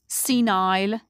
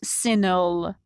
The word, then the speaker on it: senile: In British English, senile. In American English, senile. Some words ending in eri are pronounced differently in British and American accent.